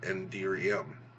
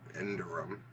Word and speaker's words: Enderium: I hear people say it all different ways, but considering it's, from ender pearls or endermen, I call it Enderium or Enderum.